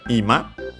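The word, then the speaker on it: 今: There is another ima, but with a different accent, and we'll ignore it for now. This is accent on the first syllable, ima, and means now, the present time.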